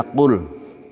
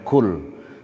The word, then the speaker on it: قل: Ayat diawali artinya qul, ucapkanlah, katakanlah. Ini harus hati-hati bacanya, jangan sampai kul, karena nanti kul dengan kul artinya berbeda.